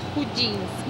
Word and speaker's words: Chudziński: Krzysztof Jasiński y Edward Chudziński. No puedo pronunciarlos bien.